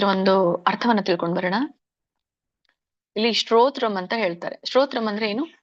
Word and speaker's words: ಶ್ರೋತ್ರಂ: ಶ್ರೋತ್ರಂ ಚಕ್ಷುಃ ಸ್ಪರ್ಶನಂ ಚ ರಸನಂ ಘ್ರಾಣಮೇವ ಚ ಅಧಿಷ್ಠಾಯ ಮನಶ್ಚಾಯಂ ವಿಷಯಾನುಪಸೇವತೆ. ಇದರ ಒಂದು ಉಚ್ಚಾರಣೆ ಶ್ರೋತ್ರಂ, ದೀರ್ಘ ಇದೆ, ಒತ್ತಿ ಹೇಳ್ಬೇಕು, ರ ಒತ್ತಿದೆ. ಶ್ರೋತ್ರಂ ಅನುಸ್ವಾರ ನೋಡಿ.